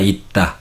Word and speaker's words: 있다: Como podéis ver aquí, se escribe en da, pero la pronunciación, ¿no?, está, si viene después de esta sílaba que tiene las consonantes debajo. Entonces suena ita, pero se escribe da.